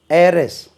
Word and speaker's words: heiress: வாரிசு, HEIR, ஏர், உச்சரிப்பு எப்படி காற்று போல உச்சரிக்கணும், வாரிசு. ஏரஸ், HEIRESS, ஆண் வாரிசு இருந்தால் ஏர், ஏரஸ், ஹெச் உச்சரிக்க விடாது, சைலண்ட் ஆகும், ஏர், ஏரஸ்.